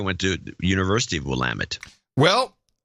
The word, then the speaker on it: Willamette: my eye, mainly because I know how to pronounce it, Willamette. Most people don't know how to pronounce Willamette. How would you pronounce it otherwise? Oh, people say Willamette. Oh, no, it's always been Willamette.